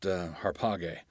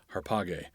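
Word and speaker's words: ἁρπαγή: alpha but it's pronounced harpa gay ARPA gay and that's because the Alpha at the beginning has what in Greek is called a rough breathing mark that makes an H sound so it begins with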